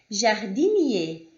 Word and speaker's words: jardinier: Vamos lá, quando vocês tiverem o ER, o EZ e o E com acento no final de uma palavra, vocês vão ter a mesma pronúncia, que é E.